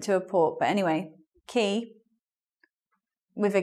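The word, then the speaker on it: quay: to say these French words with their different pronunciation so let's take a look at this word this word is key and this is a place where boats come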